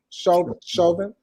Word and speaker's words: Chauvin: Is that how you say his name? Chauvin. Yes. On all 3 counts yesterday, it was a unanimous vote, and it only took 10.5 hours.